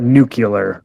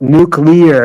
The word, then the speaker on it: nuclear: nuclear Bush President Bush used to call it nuclear. And it's like, dude, you're the president. You're in charge of the nuke, so you should be able to say it right. Well, I've been saying it wrong this whole time. It's nuclear. It's like a nucleus of an atom.